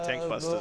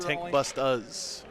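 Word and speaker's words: Tankbustas: hard R on his Tank Busters. Only -1 to wounds. When he gets home tonight, tell him it's pronounced Tank Bust-uz. There's no R on the end.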